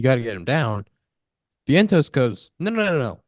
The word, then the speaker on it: Vientos: Vientos? Is that how you say it, Zach? Yep, Vientos.